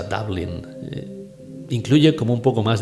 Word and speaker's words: Dublin: Dublín, que seguramente muchos de vosotros pronunciaréis de la forma española, Dublín. Pero a mí siempre me gustó más, me atrae más la pronunciación inglesa, Dublín.